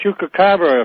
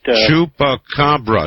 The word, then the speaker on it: chupacabra: One thing about the uh chukabra, if I'm pronouncing that right, chupacabra, sir, say it. Say it. Say, let me hear you. Chupacabra.